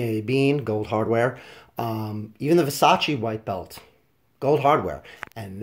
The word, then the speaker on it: Versace: faint blue it says Versace with the Medusa head and yes that's how you pronounce it it's Versace not vers ace I heard someone say